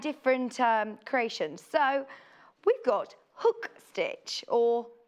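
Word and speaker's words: Huck: creations so we've got hook stitch or hook embroidery what's the what how's it spelled H uck but we can pronounce it hook so this is well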